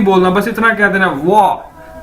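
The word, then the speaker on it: 我: तो अगर आप ये वाह आपने किस तरह से बोलना है, जिस तरह से आप बोलते हैं वाओ, आप कहते हैं ना वाओ, तो इसी तरह आपने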